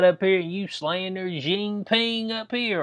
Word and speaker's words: Jinping: If you over in China and you got up here and you slander Jinping up here, or Jinping, yeah, I think that's how you say it, Xi Jinping, Bo, that you have your ass slammed in the you go missing.